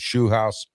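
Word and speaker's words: Scheelhaase: They got Nate Shu House, the former I finally pronounced his name right, the former game coordinator for the Rams and possible Steeler head coaching candidate.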